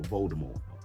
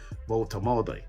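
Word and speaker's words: Woltemade: Or Voldemort. I have to say his name correctly now. This man is bagging goals, isn't it? So, Voltemade, you know what I mean?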